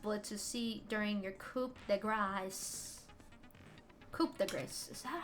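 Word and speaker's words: coup de grâce: It's pronounced coup de grace.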